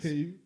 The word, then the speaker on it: paved: Paved. Yeah, that's what I said. You Paved. said paved. Paved the way. Paved. Pave with a V. It's a V. Yeah, it's a V. It's a pronunciation thing.